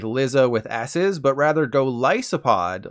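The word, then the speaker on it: Golisopod: this it's not pronounced golicipod like lizza with asses but rather go lysopod like a Goliath isopod for those who don't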